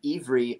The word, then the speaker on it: Iwry: It's a German W or a Russian W, and so it's pronounced like a V, and Iwry means Hebrew in Hebrew.